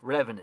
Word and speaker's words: Revan: Oh, Revan is sick. Oh, dude. Like, you gota think Revan rhymes with Evan, dude.